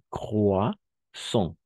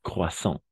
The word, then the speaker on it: croissant: Croissant. Croissant. Y un poco nasalizado acá. ¿D'accord? Croissant. Porque la A-N va a ser para nosotros O-N, nasal.